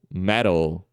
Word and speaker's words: metal: né time tá e o fapt vai aparecer em palavras como metal metal ok também aparece como